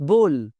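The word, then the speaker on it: bowl: बाउल नहीं कहना भाई, जरा बाउल देना, घर में भी लफ्ज बोल रहे होते हैं, ये जरा जी बाउल देना, इट्स नॉट बाउल, इट्स बोल, बोल।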